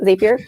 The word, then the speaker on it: Zapier: And if you do a little bit of research on Zapier, I don't know, Zapier. That's what we're calling it. That is the official Makin Bacon pronunciation.